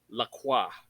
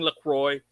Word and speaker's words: Lacroix: They pronounce the name right, Lacroix. Lucas Lacroix is one of the characters. So fuck y'all for saying Lacroix.